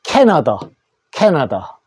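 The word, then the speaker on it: Canada: 요거는 캐나다.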